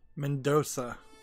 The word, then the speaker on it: Mendonça: put the cursor out of the way Mendoza is how it's pronounced uh also if you notice that there's